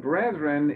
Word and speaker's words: brethren: and brethren and and brethren is really like brother okay so it's brothers now since we started